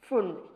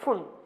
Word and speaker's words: Pfund: Balmer, Paschen, bracket, and Pfund, P silent, and Pfund. How many series or which of the series are obtained in hydrogen spectra? Lyman, Balmer, Paschen, bracket, Pfund. P is silent here.